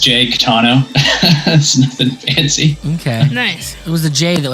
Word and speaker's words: Caetano: name no it's not it's just Jake tano okay it was the